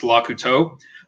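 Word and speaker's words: Lecouteux: Claude Licketon, because no one can pronounce Lakuto because it's French, and I understand.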